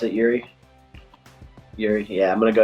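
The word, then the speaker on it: Jiří: i'm going to go yuri that's how you pronounce it yuri yeah i'm going to go and he looked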